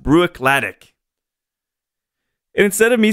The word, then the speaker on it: Bruichladdich: Can't remember which year it was, and someone corrected me, and they said, no, it's pronounced Bruichladdich.